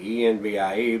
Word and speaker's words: Envie: And And it looks like it says Envie, e n v i e, but it is pronounced Envie.